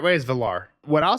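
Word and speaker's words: Valarr: The right way is Valar. What I'll say is when they pronounce Makar, it was like Makar.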